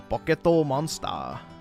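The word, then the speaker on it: ポケットモンスター: You got to pronounce it like a Japanese person. They pronounced it a pocketto monster.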